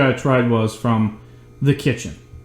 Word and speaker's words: Kitchn: So the first recipe I tried was from the Kitchn. And it's spelled like the kitchen, but without an E.